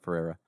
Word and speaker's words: Ferreira: That's not how you say his name, by the way. Because of Juan Ferreira. There's an R missing there. Ferreira.